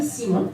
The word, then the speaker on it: Simon: Well, I'll call you Simon.